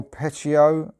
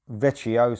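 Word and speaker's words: Vecchio: go so simon mullerani on guitar alexandro del pechio veccio sorry on keys nick mazzucconi on the base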